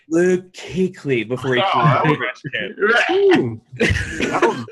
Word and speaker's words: Kuechly: Kuechly. I'm like struggling. Luke Kuechly. Yeah. Kuechly, yeah.